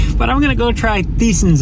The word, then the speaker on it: Thiesen's: But I'm gonna go try Thiesen's out now, which by the way is actually pronounced Tyson's.